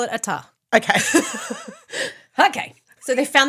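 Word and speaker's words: ʻAta: Eventually they found land, Ata. Now, it is a Polynesian word and it's spelt with an apostrophe, ATA. And I did some research on Polynesian linguistics. Yes. This is a glottal stop.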